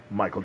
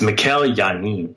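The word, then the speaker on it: Mikel Janín: want to congratulate uh Michael janon as well is it Mikel or Michael it's Mikel yanin Mikel yanin thank you very much yes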